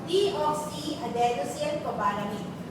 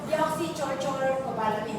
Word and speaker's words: deoxyadenosylcobalamin: Ang active form ng vitamin B12 is your deoxyadenosylcobalamin. Kailangan na po pronounce. Okay? Huwag yung deoxychorchorcobalamin. Huwag ganun.